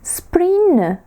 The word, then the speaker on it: spring: Spring, весна, не спрнг. Ні, це наша вимова, як би ми це хотіли сказати правильно. Spring, бачите, н наче вніс віддаємо. Н.